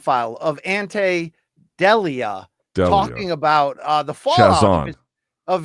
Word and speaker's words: Delija: It's Delija, just like Prince Andrew. So, No, sorry. Sorry. So, I I tried to write it phonetically, but it's Delija.